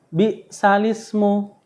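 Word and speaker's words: بئس الاسم: yang berbunyi balismu ya di sini tulisannya bisal Ismu Tapi bacanya balismu Ya jadi tulisannya alif lam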